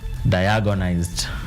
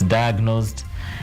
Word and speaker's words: diagnosed: from and other places, there's this word they call diagonized. That's how they say it. But my director Bonnie, where he comes from, they get very infuriated when they hear us say diagonized. It's diagnosed and it's not diagonized.